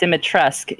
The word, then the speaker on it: Dimitrescu: It's pronounced Dimitrescu, you Philistine, you absolute stooge. The U is silent.